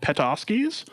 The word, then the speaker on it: Petoskey's: In Seattle, it is called Petoskey's. That is the name that they have, that's how they've wanted it to be pronounced.